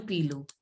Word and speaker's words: pilote: See, here T is not to be pronounced in male pilot. Last word I generally say it is not pronounced in French. So you have to pronounce a pilo.